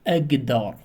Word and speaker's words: أقدر: For example, we write k, but we have to read them or pronouncing them g. For example, أقدر, أقدر, أقدر, but we have to write them أكتر, أكتر, okay?